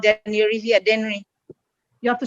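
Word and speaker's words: Dennery: i was born we were called then eureka daenery you have to spell can you spell that for me then generally d-e-n-n-e-r-y daenery saint lucia yeah yeah okay great so is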